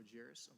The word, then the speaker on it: Jaros: you're gonna have to tell us how to pronounce that Josh good afternoon committee my name is jarus from Senate District forum and delegate here at